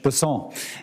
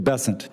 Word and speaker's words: Bessent: in South Louisiana, and I'm going to pronounce it with a French Bessent as opposed to Bessent. That's what those folks in South Carolina do.